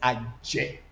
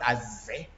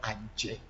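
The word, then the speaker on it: Adze: AV in Volta region, AV is Aje. It's not Aze. But then a lot of people know the word Aze because it is also easy to pronounce. But then that is not how the AVs actually, our alphabet is supposed to be called Adje Voodoo.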